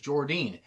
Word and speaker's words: Jordynne: I used to call her Jordan Grace until I realized it was Jordynne.